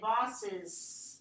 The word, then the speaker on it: boss's: say whose side, then we'll have to put apostrophe s here and say bosses, and then here boss's side. Bosses side still need z z。